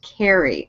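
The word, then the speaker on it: Ceri: By the way, it's pronounced carry.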